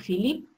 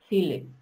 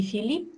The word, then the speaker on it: Philipp: Ее спутник Филипп, и он из Австрии. Анна представляет его следующим образом. Она говорит, «Er ist Philipp». Не Филипп, а Филипп по-немецки.